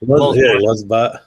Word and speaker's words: LulzBot: Yeah, Lulzbot.